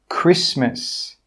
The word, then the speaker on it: Christmas: Now let's talk about the letter T. The letter T is not pronounced in these words. Castle, Christmas, gourmet, listen, rapport. In all of these words, we're not pronouncing that T sound. It is silent.